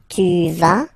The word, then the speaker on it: vas: Basically, you pronounce it like for the tu, because you don't pronounce the final S, okay? Il va, elle va, okay? Je vais, tu vas, il va, elle va.